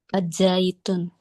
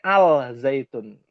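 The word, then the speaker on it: الزيتون: Azzaitun. Orang Indonesia bilangnya alzaitun. Nah, yang orang Arab yang sahih azzaitu. Oh, iya. Enggak boleh tun kan? Oh, iya. Iya. Aslinya adalah azzaitu.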